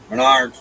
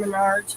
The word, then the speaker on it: Menards: Menards.